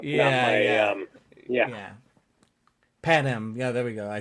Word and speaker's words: Panem: The Penang Games?